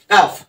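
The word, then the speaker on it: cough: এভাবে কিন্তু বড় বড় শব্দ তোমরা ভেঙ্গে ভেঙ্গে উচ্চারণ করা শিখতে পারো এবং প্র্যাকটিস করতে পারো তারপরে দেখো কাফ সি ও ইউ জি এইচ কাফ এখানেও দেখো সি টা কি সি টা হচ্ছে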